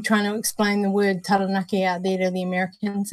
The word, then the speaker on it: Taranaki: So ta is in like T-A-H. Ra, you got to roll your R. Taranaki.